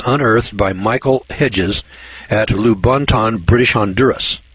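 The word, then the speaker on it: Lubaantun: The 11-pound skull was unearthed by Michael Hedges at Lubonton, British Honduras. Now, this is spelled L-U-B-A-A-N-T-U-N. Lubonton, British Honduras.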